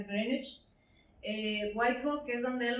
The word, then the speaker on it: Greenwich: Entonces, palacios como Greenwich le dicen, porque se escribe Greenwich, pero se pronuncia Greenwich.